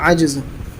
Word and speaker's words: عجز: پیچھے بھی بتلایا تھا، یہ لفظ عجز ہے، اس کو عجز مت پڑھنا، اصل تلفظ ہے عجز۔ اور نہایت عجز و